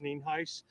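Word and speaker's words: Nienhuis: Hernando County Sheriff mean ice spelled n-i-e-n-h-u-i-s and it's pronounced Neen Heist uh we're here out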